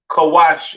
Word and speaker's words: Kush: have Kush all right Kush pronounced kawash in Hebrew all right uh famous